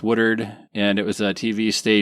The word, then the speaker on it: Woodward: a TV station in, I'm going to use the local pronunciation of it. It's not really the pronunciation of it, but Woodard, Oklahoma. Woodard, Oklahoma. Yeah, we call it Woodward. Anyone that reads, I guess. Yeah. But otherwise, for the locals, it's Woodard, and it was a